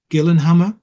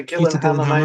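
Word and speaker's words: Gyllenhammar: n h a m m a r so Gillan Hammer probably the best pronunciation get yeah Gillan Hammer maybe not a name I recognized what's for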